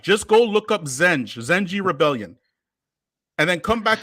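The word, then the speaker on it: zenci: slave black slave okay thank you but it's pronounced zenji okay pronounced it's written jensi but that's just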